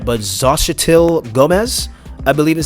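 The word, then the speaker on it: Xochitl: i might not say her name right but zashitil gomez i believe is how you say her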